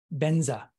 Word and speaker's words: Vajra: For example, when Vajra is transliterated into Tibetan, it is pronounced Benza.